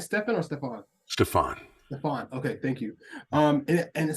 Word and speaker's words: Stefan: So am I pronouncing your name right, Stefan or Stefan? Stefan.